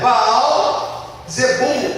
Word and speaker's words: Baal Zebul: eh lá do aramaico é Baal zebul ou Zebu dependendo da da pronúncia Baal era o o